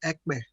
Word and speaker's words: Ekpe: I think it's pronounced Ekbe.